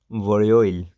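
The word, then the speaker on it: 월요일: तो इधर हम लिखेंगे आर, और ये लेटा वावल यो है, वोरियो, और ये ईयुंग साइलेंट, आगे ई, और एंड पे अब रियुल आया तो इसकी साउंड होगी एल की। तो क्या बन गया? वोरियोइल।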